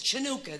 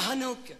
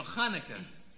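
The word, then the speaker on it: Hanukkah: with all the candles chanuka that's beautiful you mean yeah hanuka no Hanukah ch just pronounced H oh I see well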